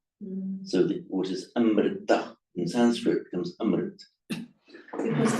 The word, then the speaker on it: Amrit: but the modern languages of northern India, notably Hindi, Marathi, Gujarati, Bengali, they don't pronounce the final a. Mm. So what is Amrita in Sanskrit becomes Amrit.